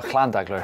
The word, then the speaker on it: Llandegla: At Llandegla pump track. How do you say that? Well, Llandegla if you're Welsh. Llandegla, yeah.